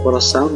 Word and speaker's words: coração: Bacanya tuh aung ya, padahal AO, tapi dibaca aung. Nah, yang diperhatikan adalah AO-nya. Oke, coração.